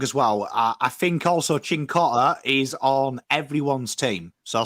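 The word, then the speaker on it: Cincotta: Yep, Chincotta. Correct. DH, it's a ch. The CI is a ch.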